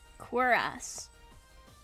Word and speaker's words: cuirass: Cuirass. Quir? There's a W in it? Okay. Like queer ass.